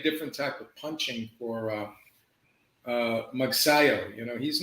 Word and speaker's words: Magsayo: Yeah, Vargas and How do you pronounce his name? Magsayo.